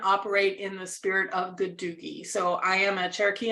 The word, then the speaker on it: Gadugi: So that second set of characters you see there, you say Gadugi in English, and then you see each syllable represented in the Salagi syllabary.